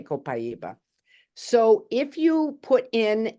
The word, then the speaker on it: copaiba: it differently I say copaiba like c p i e b u and then other people pronounce it a different way I don't know how you all do it but I say copaiba so if you put